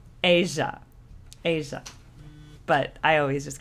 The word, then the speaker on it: Aja: Oh, apparently it's pronounced Asia. Asia. But I always just call it Aha.